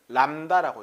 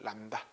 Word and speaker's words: 람다: 그리고 파장은 이렇게 쓰고 읽을 때는 람다라고 읽는 거야. 람다. 들어봤지? 람다. 그 다음에 주기는 뭐냐면 그 한 번 진동할 때 걸린 시간을 주기라고 하는 겁니다.